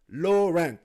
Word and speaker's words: Laurent: Well, you gotta think, okay, it's like Laurent, like Yves Saint Laurent, but think of it as low rent, like you pay cheap rent. Low rent.